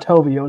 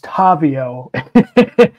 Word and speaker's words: Tavio: did and I've pronounce I mispronounced his name it's not toio it's tavio it's if you go to his bio it he's he he says the correction tavio so it is tavio